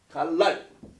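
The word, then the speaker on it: גלל: 이 갈릴리의 히브리어는 갈랄 이렇게 써요. 이게 갈랄이라고 발음하는데 이게 뭐 그림이지 이게 뭐겠어요 이게.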